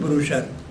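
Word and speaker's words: brochure: ब्रोशर में small pamphlet, ब्रोशर, इसका उच्चारण है ब्रोशर, ये आप गलत उच्चारण मत कर देना।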